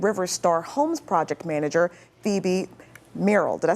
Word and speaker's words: Phoebe Merrill: Joining us now with an inside look at the project, we have Deputy Director and Restoration and River Star Homes Project Manager, Phoebe Merrill.